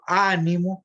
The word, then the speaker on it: ánimo: Entonces, cuando digo ánimo, la fuerza está en la A.